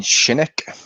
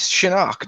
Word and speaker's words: Shinnok: Don't you mean Shinnick? Yeah. It's Shinnok. That's how it's been pronounced in the other ones. It was Shinnok, not Shinnick.